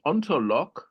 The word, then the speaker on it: Ontolog: And so they started the Ontolog group. And that was the Oh, ontolog. ONTOLOG. I thought you said LOCK.